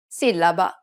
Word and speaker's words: sillaba: For example, sillaba, the accented A indicates that the second syllable needs to be stressed.